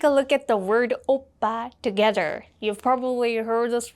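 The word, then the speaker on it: 오빠: And from the letters, you can already guess the first syllable, O, makes an O sound, like O, especially because of the vowel O. And if you look at the second syllable, this is a double consonant, so it's a strong PP sound, B, B. And the next vowel makes an A sound, okay?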